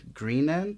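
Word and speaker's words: Greenant Creek: or green an Creek Green an or if you pronounce it like I did for ages and agees Gren and cuz in the the name they don't separate out green and ant yeah and it wasn't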